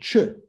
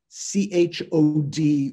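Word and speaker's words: Chöd: Nadine, have you heard of Chö? C-H-O-D, you don't say it Chod. It's the final D in Tibetan makes it a shortened vowel, so Ch.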